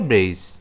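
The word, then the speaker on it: brace: इसे हम प्रोनाउंस करेंगे ब्रेस।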